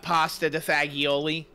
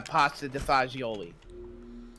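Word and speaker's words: pasta e fagioli: please don't ban us i was mispronouncing that on purpose in the form of what some stupid ignorant american would say it is i know it's pronounced uh pasta defazioli man i need to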